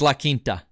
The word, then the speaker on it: La Quinta: It's La Quinta. That's how you say it.